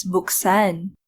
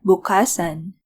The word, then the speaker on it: buksan: like bigay to begin bukhas is conjugated as buksan and not bukhasan kantahan to sing to